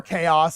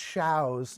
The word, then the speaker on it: Chaos: order circadians chows or chaos if you're not cultured like we are but it's pronounced shows yeah that's the french so yeah that's the